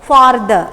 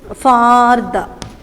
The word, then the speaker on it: farther: For, father, not father, farther. That R you have to pronounce. You have to farther.